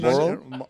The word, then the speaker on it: Marlboro: How do you pronounce that? That's Marlboro.